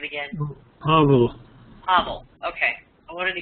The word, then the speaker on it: Pavel: And Lynn, can you tell me how do I pronounce this person's first name again? Pavel.